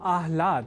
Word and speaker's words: आह्लाद: या न लिखकर हम आह्लाद अर्थात पहले ह और बाद में ल इस अक्षर विन्यास से युक्त शब्द आह्लाद का ही लेखन और तदनुसार शुद्ध उच्चारण करेंगे।